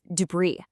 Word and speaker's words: debris: See that S at the end? Well, it's basically on a permanent vacation. You just don't pronounce it. It's debris.